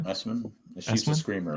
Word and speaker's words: Essman: Essman? Is that how you pronounce it? Yeah. Essman.